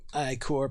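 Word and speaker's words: ichor: played here two i core potions i instinctively want to call that icker because it's icky but i've heard of people pronouncing icor and i assume i'm wrong wasn't i core the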